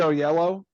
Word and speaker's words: Oyelowo: I think it was David Oyelowo. I think Oh, that's how you yes.